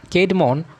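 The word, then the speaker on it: Cædmon: Kate Mon, pronounced Kate Mon, was a humble herdsman at the Abbey during time that Saint Hild was the abbess.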